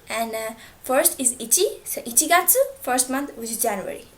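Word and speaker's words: 一月: january how do i say it january is ichigatsu so actually um we do not have different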